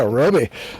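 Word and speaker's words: Robey: Yeah, Roby.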